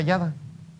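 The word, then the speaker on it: ידה: alabanza es yada pero como en el hebreo no hay no hay vocales así se escribe y d y H pero se pronuncia yada pero vamos a ver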